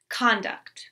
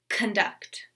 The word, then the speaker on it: conduct: As a noun, conduct. Verb, conduct.